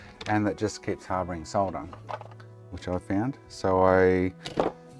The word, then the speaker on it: solder: How do you pronounce SOLDER as SARTER? Genuine question. SATA, solder. was watching someone today or yesterday, they actually read out the word solder and pronounced it as SATA.